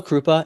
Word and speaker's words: Kroupa: An astrophysics professor named Pavel Krupa, anyone can look him up. It's spelled Kroupa.